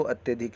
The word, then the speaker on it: अत्यधिक: अत्यधिक को अत्याधिक को अत्यधिक लिखेंगे। बोलने में देखिए कैसे तुरंत पकड़ में आता है कि हमने बोला अत्यधिक, लेकिन अत्याधिक लोग लिख देते हैं और इसका होता है शुद्ध उच्चारण अत्यधिक।